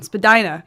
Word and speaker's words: Spadina: Spadina.